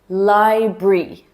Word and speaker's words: library: Okay, next, number 3, library, library. Yes, the R completely disappears in this one.